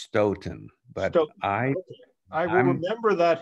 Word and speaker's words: Staunton: I was told early on in the first session that it's pronounced Stoughton, but I will remember that henceforth.